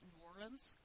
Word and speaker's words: New Orleans: relatives down there and they pronounce it in warrens so I have a tendency to do that too but this is another